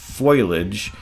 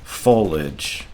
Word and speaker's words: foliage: excuse me it I first thought it was boilage and then I thought it was foliage but it's actually pronounced foliage so I'm very sorry I I must be